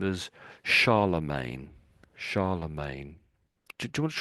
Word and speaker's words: Charlemagne: ago and so we say the name as Charlemagne.